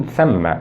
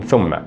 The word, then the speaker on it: ثَمَّ: وفي الحقيقة هنا النطق الصحيح أو الأدق لأداة الربط هذه هي ومن ثم وليس ومن ثم، وهذا خطأ يقوم به بعض متحدثو اللغة العربية عندما يتحدثون بالعربية الفصحى.